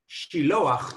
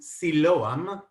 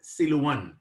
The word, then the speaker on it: Shiloach: The word Shiloach in Hebrew was actually translated to Siloam, which mistranslated or mispronounced later on by Arab-speaking people as Siluan.